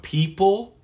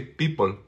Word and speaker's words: people: person La Fiesta the people listen to how I pronounce a p i don't say people no in English the p is aspirated so okay people people people people so uh the